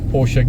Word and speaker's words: Porsche: We know it as Porsche in South Africa. We refer to it as a Porsche Center. But the correct pronunciation is Porsche.